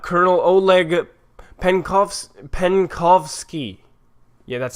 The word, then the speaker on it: Penkovsky: believe it or not colonel oleg Penh coughs pen coughs key yeah that's how you pronounce it its Soviet military intelligence officer passed